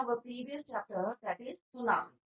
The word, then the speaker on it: tsunami: Today we will continue our previous chapter, that is सुनामी। तो बच्चों, सुनामी आपको clear हो गया होगा। इट इज a Japanese word. Japanese word है सु। टी इसमें साइलेंट रहता है बच्चों।